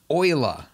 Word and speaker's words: Euler: looking for rotate euler is that how you pronounce that word euler leonard oyler all right that's that is wild that's why all right he's swiss basil swiss all right cool man euler is how we're supposed to pronounce your name